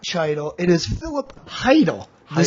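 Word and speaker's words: Chytil: It's not Cheidel. It is not Cheidel. It is Philip Heidel. The Heidel. C is silent. Heedle, I think. I thought it was Heidel. Heedle. Heidel. He is. The C is silent.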